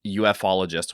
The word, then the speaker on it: ufologist: And Andrew wrote, saying the word ufologist, and then in parentheses, Andrew wrote OO-fologist. So ufologist? I'm not sure. But I ended up landing on ufologist when I was running through the pronunciations in that episode.